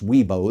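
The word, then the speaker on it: Wibaux: So if you're in WBOX, otherwise known as Weebo, that's the appropriate pronunciation.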